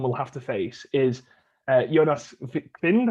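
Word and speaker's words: Jonas Wind: I would say I put down sort of the danger man that I think Finland will have to face is Jonas Vind, I think it's pronounced, of Copenhagen.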